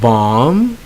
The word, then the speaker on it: balm: pronounce the B okay so they end with M B and if you dropped the B so the B is silent so you have lamb you have comb you have balm you have num yo plum and then you have tomb alright so in all